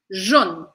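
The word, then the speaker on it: jaune: encontra aqui no canal JN JN eu vou terminar o som na letra n Eu tenho que pronunciar ela bem marcada JN JN tá bom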